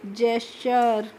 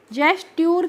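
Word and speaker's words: gesture: एस टी यू आर ई को हम पढ़ेंगे जेस्चर जेस्ट ट्यूर करके नहीं पढ़ते हैं क्योंकि हम यहां पे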